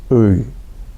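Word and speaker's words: ы: U. It sounds like you're being punched while you're saying E, but I don't know if I can really do it.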